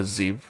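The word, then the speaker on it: Zhev: that I have uh called a ziv uh but it is spelled z h e v and it actually makes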